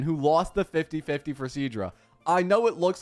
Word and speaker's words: Cerydra: Do you not see the R in her name? What, cerydra? I'm legit pronouncing the R. Cerydra. Cerydra?